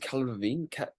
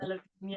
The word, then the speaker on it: Delevingne: Okay, yes, we have that inspiration and we have that thing from is it Cala Levine? How do you pronounce Cara it? Delevingne, yeah.